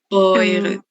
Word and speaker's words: eure: Das sind, ¿cómo se pronuncia? Oya. Se dice oya. Perdón. Das sind eure. Oire.